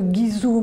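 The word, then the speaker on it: 贵州: et aller dans alors moi je dirais en français le Guizhou, mais la prononciation Huizhou.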